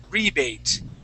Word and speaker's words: rebate: All right, now this word here, we would say rebate. Okay, so the accent goes at the very beginning of the word.